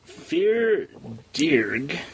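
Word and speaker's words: Fear Dearg: don't use it now yes yes so the fear dear cuz it's that's how it's pronounced f e a r and then d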